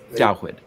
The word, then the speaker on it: David: David. Dawid, which is the Hebrew pronunciation for the name we English speakers call David.